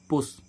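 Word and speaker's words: push: होता है रखना ऐसे इसमें देखें पुश पी य एस एच पी क्या है कॉन्सोनेंट और एस क्या है कॉन्सोनेंट अब दो कॉन्सोनेंट के बीच में यू आ रहा है तो इसको हम क्या पढ़ रहे पुश पुश मींस धक्का ऐसे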